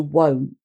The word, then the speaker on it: won't: a strange thing that when it's contracted the i in will becomes an o so that's very strange but i guess it's partly because it's difficult to say willand willn't it doesn't sound right at all so it will not contract to won't won't okay and then